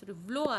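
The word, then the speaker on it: Valois: व्लोजा, व्लोजी, Catherine of, sorry व्लोआ है, या आई इसमें साइलेंट है, ठीक है।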